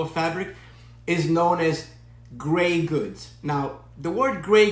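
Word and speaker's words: greige: Now, the word gray goods is spelled G-R-E-I-G-E, and some people pronounce it grayish. But in the industry, okay, oftentimes you will hear it pronounced gray, just like the color gray. So in this demo, I'm going to pronounce it gray.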